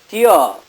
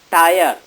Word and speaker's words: tier: It is tier, not tire, because the previous rhyming word is fear. So it should be pronounced as tier.